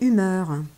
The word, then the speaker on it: humour: humour étonnamment ce mot est issu du vocabulaire de médecine il s'est prononcé humeur pendant assez longtemps les humeurs en médecine